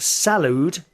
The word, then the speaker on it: salud: healthc care system uh which is called that salude s a l UD D I think that's